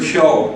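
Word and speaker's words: 今日: I have to know that the word kyo today is spelled kefu.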